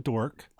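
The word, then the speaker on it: D'orc: Our tagline for him was "Don't call him dork." In the old tongue, it's D apostrophe orc, and the D is silent. Word jokes.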